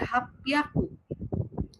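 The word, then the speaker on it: 八百: Sedangkan kalau 800 dia jadinya hapiaku.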